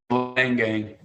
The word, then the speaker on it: Leingang: For all the fans out there that might think might be pronounced another way, let's hear it from you, Andrew. It is Leingang, correct? Correct, Leingang.